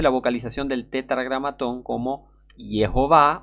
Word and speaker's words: Jehová: Esta ha sido la pronunciación aceptada de Yod-Heh-Vav-Heh durante al menos los últimos 400 años en el mundo occidental. Las escrituras, las traducciones, los comentarios, los libros de oración, las obras teológicas, los himnos y los cristianos en general han utilizado esta pronunciación estandarizada, Jehová.